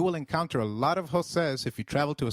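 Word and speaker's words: José: the EI in eight the letter J sounds like H in Spanish so try saying Jose it is J you will encounter a lot of joses if you travel to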